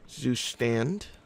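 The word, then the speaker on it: Zustand: It's zoo stand, not with an R.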